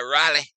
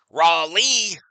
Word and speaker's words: Raleigh: Ripped foul here by Riley. If the Mariners win it, would be their first World Series ever. Correct. Yeah, I say his name wrong all the time, Johnny. You know that. Raleigh.